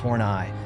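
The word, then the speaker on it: Horneigh: of his characters Tyrone F horn pronounced torn eye was a creepy old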